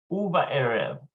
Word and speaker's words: ובערב: That Bob there is a shuruk. So it's an U sound. Uva and notice that it loses the dagesh in the bet, so it's just a vet now. Uva erev, ba.